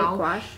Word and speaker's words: gouache: Gouache.